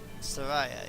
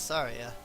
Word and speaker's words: Saria: And I was like, I'd always called her Saraya, you know? But in the end I was like, oh, okay, well that does make sense if we're going with like a Japanese pronunciation. Because that's how the I is pronounced in Japanese.